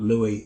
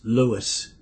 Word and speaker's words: Louis: that told me that people called him Louie and and he would politely say my name is not Louie it's Louis now for many years